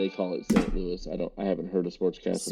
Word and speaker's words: Louis: It's the S is silent in Louis when you say it in French.